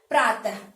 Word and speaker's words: प्रातः: इसका उच्चारण जो, इसको हम जब बोलते हैं बेटा, ये विसर्ग कहलाता है। ये चिन्ह का नाम विसर्ग है। प्रातः, अतः कहते हैं ना, तो आप इसको आधे ह की तरह पढ़ते हैं, ये विसर्ग है।